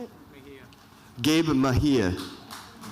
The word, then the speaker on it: Mejia: Mejia.